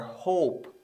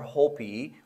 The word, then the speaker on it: hope: which is e now the letter e is uh silent when it is usually at the end of a word such as Apple or hope so we don't say aptly or Hopi we say apple hope